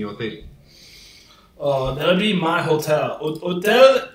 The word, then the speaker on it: hotel: Hotel is hotel. It's the same thing, except you don't pronounce the H.